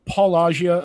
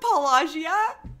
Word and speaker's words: Paulogia: Did you call him Paulogia? Yeah. Paulogia. Whatever. Paulogia. Paulogia. Whatever. Oh, put that on the soundboard. I love it when people mispronounce it. My emphasis is on a different syllable.